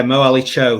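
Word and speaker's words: Mohamed-Ali Cho: obviously an avatonian I recognize this name uh Muhammad Ali Cho is that how you pronounce it it is yeah Moe Ali Cho so he he Cho has had a bit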